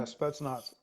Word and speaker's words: Spetsnaz: So what were they like, the Spetsnaz? Is that I'm pronouncing that correctly? Yeah, Spetsnaz.